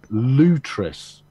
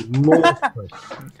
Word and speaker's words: Lutris: my head off because he pronounces it Lutris. I know Lutris. But for me, Lutris would be spelt L-O-O-T-R-I-S. It's spelt L-U-T-R-I-S. So from England, as I'm speaking the Queen's English, it's Lortrus.